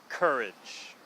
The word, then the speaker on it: courage: the same okay so we want to make sure to get that first vowel sound correct and then the R and L and the emphasis on both words is are both in the first syllable get so college courage